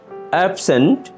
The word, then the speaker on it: absent: অ্যাবসেন্ট, পলাতক।